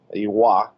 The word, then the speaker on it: Roy: Iwa is how they pronounce it, at least in Canada.